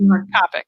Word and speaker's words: Copic: Copic.